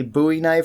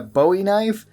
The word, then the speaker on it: Bowie knife: game and people wondering why I call it a buoy knife and not a Bowie knife and usually people cite the reference of David Bowie which kind of makes sense because it is spelled the same way but this knife is named after Jim buoy who fought at the Alamo that would be the correct way to say it however if you want to say Bowie knife then that's perfectly fine too it's just that there